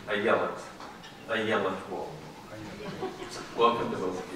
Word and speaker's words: Ayelet: As for Madame Waldman, she pronounces her first name Ayelet Waldman.